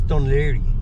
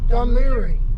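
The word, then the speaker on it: Dún Laoghaire: How do you pronounce the name of this city? This is Dunleary. Dunleary.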